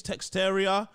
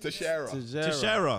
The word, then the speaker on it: Teixeira: I don't know how to pronounce these names. Texteria and Proskovic. Man, Texteria. What's how do you pronounce it? Teixeira.